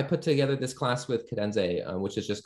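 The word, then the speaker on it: Kadenze: oh yeah you totally should um apparently it's pronounced cadenze who would have known it's pretty hard to figure out but k-a-d-e e n z e but yeah I put together this class with cadenze which is just called computer assisted music in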